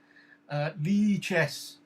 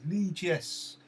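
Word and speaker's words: Lichess: That's what Apollo says, because it's a French expression and therefore pronounced differently.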